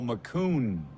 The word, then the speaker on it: Macoun: what else you got Jamie McCowan by the way whose family had a town named after them in Saskatchewan which they call McCune in Saskatchewan he says they're saying it wrong in the town the